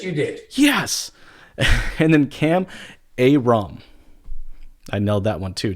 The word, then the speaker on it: Kam Ayrom: And then Kam Ayrom.